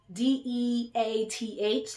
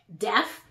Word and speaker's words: death: I got up like you gotta enunciate the th but again like I